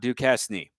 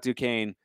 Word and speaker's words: Duquesne: you see that school that's spelled d-u-q-u-e-s-n-e that's duquesne it is not ducastini as someone who has